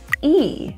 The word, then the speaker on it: he: is he ready and that he that H will be dropped you'll hear Izzy is e now I'm not saying he I'm saying e is he is he